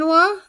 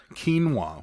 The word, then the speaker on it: quinoa: correctly so I don't say it incorrectly again quinoa quinoa we had had it before I've never had it before that's the first time I've ever had quinoa it was Korean barbecue quinoa it had peas